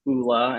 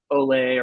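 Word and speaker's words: Ole Henriksen: a year ago that it's actually pronounced Oola instead of Olay or all Henriksen which I yeah it's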